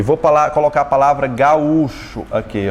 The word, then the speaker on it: gaúcho: O acento não recaiu sobre a segunda. Então fica como, ó? Ga-ú-cho. Recaiu sobre a segunda, portanto se separou.